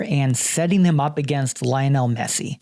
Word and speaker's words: Lionel: setting them up against Lionel Messi his name with the Spanish Argentinian pronunciation Leonel Messi it's like taking the